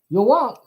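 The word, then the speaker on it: Yhwach: known as y or Yak okay that is the German pronunciation for Yahweh yok who is the main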